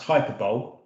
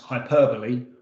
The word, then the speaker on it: hyperbole: included a word that for the first 30 years of my life i i thought was pronounced hyperbole when you clever intelligent people know it's pronounced hyperbole also doesn't belong so